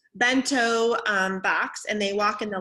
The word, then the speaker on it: bento box: lunch they have their be toe box is not how you say it back toe box yeah bento box and they walk in